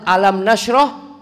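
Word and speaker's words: ألم نشرح: ketika dia baca Alquran dia membaca Alif Lam Mim Nasroh lakasodrok padahal Alam Nasroh lakasodrop Tapi bacanya Alif Lam Mim kenapa Loh waktu dia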